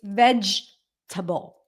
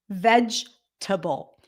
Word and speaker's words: vegetable: it's not vegetable again it's not a table thing it's vegetable vegetable ve vable okay not vegetable delicacy or delicacy